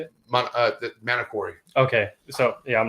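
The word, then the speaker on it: Manokwari: And dude, when I was working on your snake, the Manokay Wari, is that how you say it? The Manokori.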